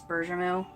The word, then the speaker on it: bergamot: The English pronunciation is bergamot. I hear it more often as bergamot, but someone said bergamot a long time ago, and that's just what stuck with me, so to me it's going to be bergamot. Which is the French pronunciation, so I don't, whatever.